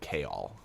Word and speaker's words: Chaol: there's like this Captain of the Guard guy Chaol? Cuz I I assume it's like the old English spelling of jail. In the audio book they pronounce it Chaol.